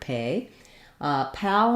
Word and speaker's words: PayPal: when we have paypal the spelling is fairly straightforward here we have the a vowel and we do typically spell that with a y or a i so it is just like the word pay pal might be a little trickier uh just because the a and o sound might be challenging for you paypal pal we do also have the word pal it's got the same vowel as in sat or cat and the